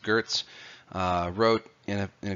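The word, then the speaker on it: Geertz: of what what culture is the anthropologist Clifford Gertz I know it's written Geerts but it's pronounced Gert's wrote you know you know kind of a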